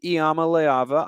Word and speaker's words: Iamaleava: i've gotten it right after initially mistaking an eye for an l i think iyama layava i would be willing